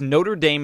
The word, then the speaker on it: Notre Dame: I say something about Notre Dom is that how you pronounce it it's Notre Dame as the school and you know troodontid